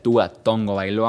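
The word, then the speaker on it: Tua Tagovailoa: tú a tongo bailoa y si se pronuncia tú a tongoy loa Aunque ustedes no quieren obviamente sé que se escribe tago bailoa y no se pronuncia Así es el mejor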